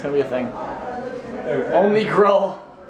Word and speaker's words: Gruul: Only Gruul. It's only Gruul, because it rhymes with Zool.